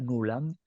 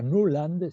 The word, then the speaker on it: Nuland: de la señora Victoria nuland se escribe nula n d nublando así como suena van a verla ella